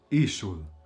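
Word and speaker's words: ishull: This is because when a noun ends in ul, this syllable is never pronounced. So then the syllable before is pronounced, like ishul or also okul.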